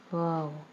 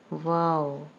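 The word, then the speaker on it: واو: Next is Wow. Wow. Wow has the same pronunciation like the English word wow and it has the sound like the alphabet W.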